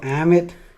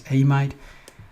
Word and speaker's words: amide: Some textbook call, some people pronounce this as amide. Usually I prefer amide.